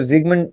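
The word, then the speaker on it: Sigmund: तो जो इसको सिगमंड फ्राउड भी कहते हैं लोग, सिगमंड फ्रॉइड भी कहते हैं लोग, बट इसको जिगमंड जिगमंड इज the actual pronunciation as much as आई can recall.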